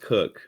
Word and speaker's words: Koch: Tipton and Cook, Kyle Cook, Koch or Cook. Yeah, I looked at the media guide. Apparently, it's pronounced Cook, but So him and Wyatt Young had a lot of playing time.